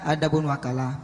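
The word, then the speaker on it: وكالة: Wakalah diucapkan dengan fatha pada waw dan kasra pada waw.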